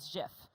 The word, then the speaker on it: GIF: It's GIF, guys. And I know I always lose this. I don't care. It is GIF. You're sticking by GIF. I will die on this.